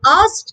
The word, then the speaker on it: asked: tense of us so the trick to saying it correctly is to make the k silent so it sounds like as in american english and asked in british but in